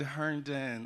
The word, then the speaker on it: Herndon: see y'all um also respectfully it's pronounced hearnen unfortunately one of my